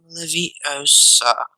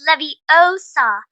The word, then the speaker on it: Leviosa: someone's eye out besides you're saying it wrong it's leviosa not leviosa you do then if